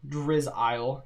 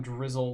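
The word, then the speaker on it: Drizzile: i pronounced it wrong how original drizz isle instead of calling him drizzle like drizzling rain you call them drizz aisle i don't know maybe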